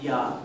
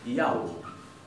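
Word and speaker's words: já: perdón, la tilde, y no se pronuncia ya, sino que se pronuncia yau.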